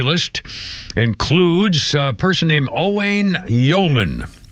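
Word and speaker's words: Owain: And our birthday list includes a person named Owane Yman. Maybe it's Owen pronounced. So, it's O W A I N. Owen or Oane Yman, 47, played Wayne Riggsby on the Mentalist and Benedict Arnold on AMC's Turn.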